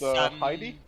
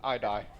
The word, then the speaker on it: Heidi: Yes, Written down 'cause here, it's Heidi? Oh, the H is silent. It's I-die.